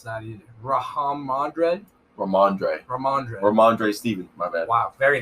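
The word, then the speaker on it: Rhamondre: I don't know how to pronounce that either. Ramondre Stevenson.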